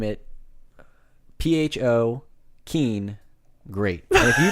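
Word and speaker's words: phở: And they want to name it PHO Keen Great. And if you don't know how PHO is pronounced in whatever, I forget if it's Korean or it's Vietnamese, I promise.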